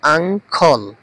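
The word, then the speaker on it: uncle: brother ভাই sister sister বোন আঙ্কল আঙ্কল এটার উচ্চারণটা হবে আঙ্খল চাচা মামা ফুফা খালু আন্ট আন্ট চাচি মামি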